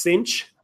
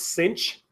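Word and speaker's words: sinh: hyperbolic of X now this is kind of weird but this is pronounced cinch this is pronounced cinch the sine hyperbolic is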